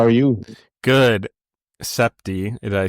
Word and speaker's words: Sibte: But it's s i as in like when you sip something.